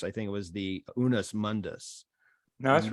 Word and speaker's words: unus mundus: But he also argued for, and I'll probably slaughter the pronunciation of this, I think it was the unus mundus.